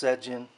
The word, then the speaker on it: Sejin: that's my son's name it's pronounced sedjin so his korean name